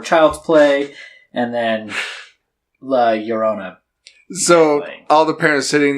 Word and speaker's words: Llorona: When you have two L's, it makes that U. Yeah. Yeah. Llorona.